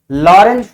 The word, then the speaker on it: Lorentz: की बात हम करेंगे लॉरेंज फोर्स टी साइलेंट है य लॉरेंज बल टी साइलेंट ऐसे एल ओ आर ई एन जड लॉरेंज ऐसे होना चाहिए टी भी रता टी साइलेंट होता है लॉरेंज फोर्स क्या होता